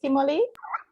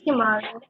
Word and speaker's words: Kimali: Kimoli? It's Kimali.